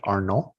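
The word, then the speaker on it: Arnault: Bernard Arnold was that you say it right Arnold the uh yeah yes I'm like the uh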